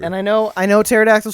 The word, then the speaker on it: pterodactyl: thought it meant dick pterodactyl fever dick pterodactyl fever and i know i know pterodactyl starts with a p but the p is silent so that means it